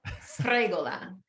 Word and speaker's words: Sfregola: It's three regardless, consonants all together, and you have to roll the R. Sfregola.